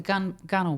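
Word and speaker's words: gunwale: Oh, the gunnel, by the way, it's spelt gun whale, and it's kind of the line that you see at the top of the hull.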